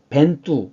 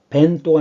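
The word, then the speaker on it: Bento: 장식했습니다 한 가지 더이 스페인어에서는 오를 오라고 읽지만 포르투갈에서는 오를 우로 발음합니다 우로 그래서 이거는 뽀르 또가 아니라 뽀르뚜 그래요 뽀르뚜 그래서 이것도 쌍 벤또가 아니라 벤두 벤두 근데 사실이 포르투갈은 그이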